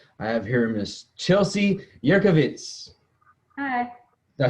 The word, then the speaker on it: Jurkiewicz: I have here Miss Chelsea Jurkiewicz.